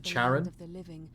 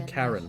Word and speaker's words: Charon: pronunciation on Google definitely Karen with a CH dead end job with